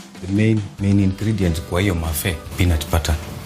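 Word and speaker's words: mafé: today we are going to to make a mafi mafi can you spell that word mafi m-a-f-e mafi but we are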